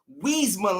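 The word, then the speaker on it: Iuisma: It's spelled I-U-I-S-M-A, but it's pronounced Wiesma Lima.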